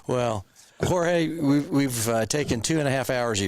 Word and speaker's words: Jorge: My name is spelled a little weird. Jorge, Jorge.